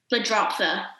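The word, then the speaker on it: Ledroptha: to know what mr curtin's first name is the dropper that's how you pronounce it yeah and that is a that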